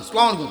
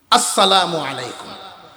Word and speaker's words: আসসালামু আলাইকুম: রাজনীতির সালাম আছে না নাই ইংরেজি সালাম আসালামু আলাইকুম আসালামু আলাইকুম লেঙ্গুর নাই এরকম আছে রাজনীতির সালাম অনেক লম আসালামু আলাইকুম কম কয় আর সাধারণ মানুষ সালামু আলাইকুম সালামু আলাইকুম খুব খেয়াল রাখবেন সালামটা আমার সাথে